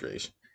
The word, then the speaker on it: Ra's: I pronounce it as Raish. I don't know how you guys pronounce it, but Raish, I really like him.